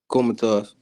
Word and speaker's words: Kholmatov: Is that how you pronounce his name? Kholmatov.